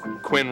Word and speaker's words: Quinn: Quinn rhymes with sin. And win. And begin.